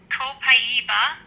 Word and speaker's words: copaiba: Okay, this is pronounced Copaiba in Brazil.